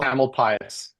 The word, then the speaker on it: Tamalpais: Tamalpais.